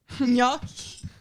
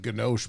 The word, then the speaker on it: gnocchi: gnocchi, Okay. gnocchi. I don't even know. It's good pronunciation, actually. Gnocchi. I always called it ganoche, but I guess that was wrong. You're gonna get flamed by both.